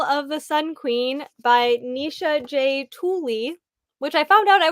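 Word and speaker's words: Nisha J. Tuli: We will be discussing Trial of the Sun Queen by Nisha J. Tooley, which I found out I was pronouncing it correctly, which that never yay.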